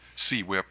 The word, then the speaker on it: CWIP: Tesfaye, are you aware of the regulatory or rate-making concept called construction work in progress, or CWIP or QUIP, depending on how people pronounce it?